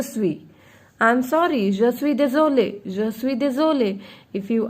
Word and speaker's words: désolé: But the pronunciation will remain same.